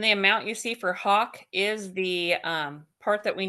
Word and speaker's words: Hach: No, so the Hawk invoice that you see on the AP, just because Oh, it's the Hawk you invoice. typically see HACH is how it's spelled.